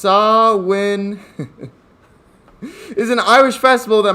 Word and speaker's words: Samhain: to present some so we have samhain or pronounced sawwin is an irish festival that marks the end